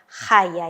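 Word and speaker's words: חיה: Khayah ini nggak ada dalam grup Beget Kefet, ya. Maka pastilah dia hanya strong dages, ya. Maka diucapkan dengan khayah, y-nya itu kuat, ya.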